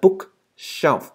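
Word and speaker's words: bookshelf: À, chỗ này mình quên cho nó, đây là book shelf, S dài, shelf. Shelf, book shelf. Ok, các bạn đọc là book shelf. Các bạn đừng quên chữ F ở cuối nha.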